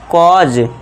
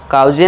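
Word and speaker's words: cause: कॉज। काउजे नहीं पढ़ना है।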